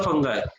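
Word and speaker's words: fungi: कहेंगे, algae, then protozoa, then फंगाई, फंगी नहीं फंगाई, और लास्ट वन इज वायरस। अब इन पांचों में ये जो चार होते हैं स्टार्टिंग के, बैक्टीरिया, एल्गे, प्रोटोजोआ, फंगाई, ये सब थोड़े से अलग होते हैं।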